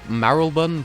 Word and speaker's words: Marylebone: I want to say Marylebone, but it's spelled Mary Lebone.